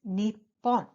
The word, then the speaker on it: Nippon: is an interesting fact Japan in Japanese are pronounced in two ways one is Nippon and the other is Nihon so there are two pronunciations for Japan in Japanese are interchangeable so